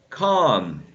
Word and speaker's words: calm: And with this one, you say calm, calm. With this one, calm. You don't pronounce the L.